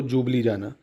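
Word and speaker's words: Ljubljana: इसकी कैपिटल क्या है लुजू बजाना या एल साइलें रखो इसको बोलो जुबली जाना जुबली जाना एल जुबली जाना जाना मतलब एल साइलेंट है जुबली जाना ये किसकी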